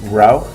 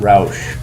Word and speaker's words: Rauch: And so it's very important to pronounce it Rauch and not Rausch.